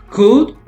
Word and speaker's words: could: Now, the past is could. Remember here the L is silent. So it's like this. So remember this L. We don't read it, okay? It's could. Can you repeat?